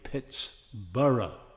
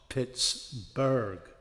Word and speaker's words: Pittsburgh: And everybody spells the town the right way, Pitts-burra, not Pitts-burg. Cuz burra is the Scottish name for town. Burg is the German name for this town.